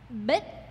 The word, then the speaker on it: Bích: Bích is how you pronounce these last letters here.